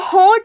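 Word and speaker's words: ہ: हलक के नीचे वाले हिस्से से हलक के नीचे वाले हिस्से से ह अदा होता है। इट is pronounced from the bottom of the throat and the breath sheet go inside the throat.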